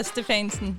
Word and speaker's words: Stefansen: There's a Danish version of your name? Yeah, Stefansen. Stefansen? Stefansen, yeah.